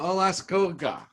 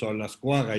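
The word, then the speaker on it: Olascoaga: Alascoga. Did I pronounce it right? Thank you very much, Olascuaga. Yeah, almost got it. It's a difficult last name to pronounce, even in Mexico.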